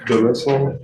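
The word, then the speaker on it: Delesine: How do you pronounce your last name? D'Elia's Lane.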